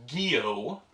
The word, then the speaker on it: Gyo: It was Gyo, as we later learned that's how you pronounce it.